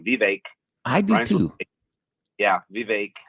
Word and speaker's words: Vivek: The Vivek, I always say it wrong, Vivek.